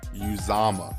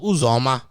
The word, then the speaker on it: Uzoma: I'm pretty sure it's something along the lines of Uzoma. It's definitely not a U, it's U, and it's definitely not a Za.